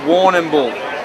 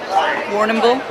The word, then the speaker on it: Warrnambool: Yeah, it's spelled a bit weird. Warrnambool is the way of saying it, and Warrnambool. Chad, you want to get in this? And you could try. Warrnambool?